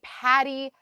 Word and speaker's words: PADI: One of my friends popped in and says, "What is a Patty Diver?" Patty is spelled PADI, and it's an Correct.